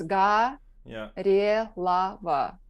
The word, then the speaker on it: Gorelova: Right, and the thing is, if you know the Russian language, if you have accent on the O, it will be O. But if there is no accent on the O phonetically will become A. So you will pronounce Ga, Re, Lava.